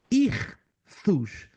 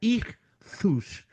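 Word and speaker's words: ἰχθύς: acróstico histórico olha só a palavra grega irus se escreve istos mas como é grego se pronuncia irus que os cristãos do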